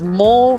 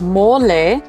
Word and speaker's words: mole: heard of M before you might read it as mole cuz that's how it would be pronounced in English um but no it's not a mole it's mole and here at EK